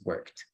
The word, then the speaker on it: worked: i have worked and remember the pronunciation here is actually going to be a t so instead of pronouncing work we pronounce worked excellent very good all